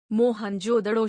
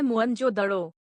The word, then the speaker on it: मोहनजोदड़ो: जिले में स्थित है मोहन जोदड़ो शब्द का सही उच्चारण है मुं जोदड़ो इसकी खोज रखलदास बनर्जी